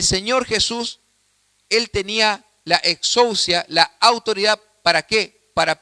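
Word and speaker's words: ἐξουσία: Y esto es muy curioso, hermanos, porque la palabra autoridad en el idioma griego se pronuncia exousia. Exousia con X, exousia, y es en el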